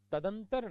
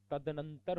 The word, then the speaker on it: तदनंतर: तदंतर नहीं होता, तदनंतर होता है, तदनंतर होता है।